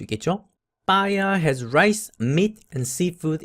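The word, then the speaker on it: paella: 빠야 has rice, meat and seafood in it. 여기에 빠에야 같은 느낌으로 읽으면 되겠습니다. L 발음은 거의 없는 샘라고 하는 요리는 가지고 있는데요.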